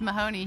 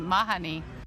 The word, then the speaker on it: Mahoney: Well, it's pronounced Mahoney here, but in Ireland they pronounce it Mahoney.